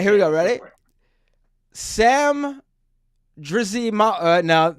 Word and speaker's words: Drzymala: It's so if you just act like the Y and the Z or reverse, it's a lot easier. I pronounce it Drzymala.